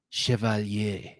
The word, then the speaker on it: Chevalier: that you would say chevalier because look at it and it's a french word southern grind acquired by